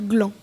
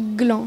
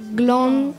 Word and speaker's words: gland: Gland, on ne prononce pas le D, ça se dit juste gland. On dit gland, c'est pas gland, gland.